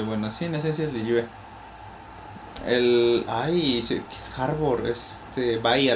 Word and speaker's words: Liyue: Que bueno, sí, en esencia es Liyue.